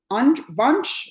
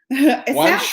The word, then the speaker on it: Wunsch: Wunsch rhymes with lunch. I know, that's what I was going to say. I was like, ooh, lunch sounds like lunch.